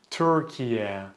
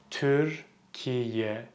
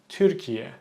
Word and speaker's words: Türkiye: So I hear a lot of people pronounce this as Türkiye or Türkiye. The correct pronunciation is Türkiye. Türkiye. Türkiye. Slowly. Türkiye. Türkiye. Keep it sharp, keep it short. Don't stretch it out.